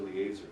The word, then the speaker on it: Eliezer: Actually, it's A. E is pronounced A. Eliezer.